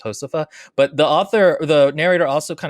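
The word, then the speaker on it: Josefa: The main character, by the way, is called Josepha, but it's Josepha. I'm assuming it's a Spanish. F-A. I'm assuming it's a Spanish word because J makes an H sound, so it's not Josepha, it's Josepha.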